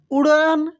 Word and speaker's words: उड़ान: पूरा झुंड एक साथ उड़न देखिए यहां पर होगा दोस्तों उड़ान उ ड के नीचे य बिंदी है तो ड़ हो गया और आ की मात्रा लगा है तो इसको पढ़ेंगे उड़ान भरते और साथ में